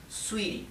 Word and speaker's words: sweetie: Sweetie, se escribe sweetie, pero la T se pronuncia más bien como una R suave, sweetie, ¿bien?